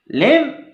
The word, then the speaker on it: lamb: Lamb, यहाँ बी को हम बहुत ज़्यादा हाईलाइट नहीं करेंगे, बल्कि लेम ही कहा जाता है, बी साइलेंट बोला जाता है।